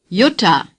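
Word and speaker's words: Jutta: say Utah again yota the letter J is pronounced like our why in yes Yuta Yuta Haider say Heidi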